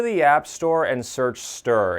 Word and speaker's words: Stirr: as comet Stadium and charge to download the stur app on your fire stick Roku or other streaming device go to the app store and search stir it's spelled STI RR once the app is